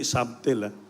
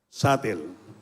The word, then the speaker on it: subtle: So destruction sabel subtil ba subtle destruction ang pronunciation na ang ang pag-pronouncean hindi subtil satle destruction it open start with